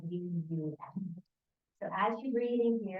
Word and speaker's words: VAM: The Bija mantra here is VAM, V-A-M, pronounced more like V-U-M.